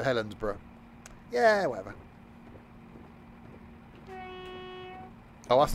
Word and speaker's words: Helensburgh: I think it's pronounced like pronounced like Edinburgh, so Helensburgh.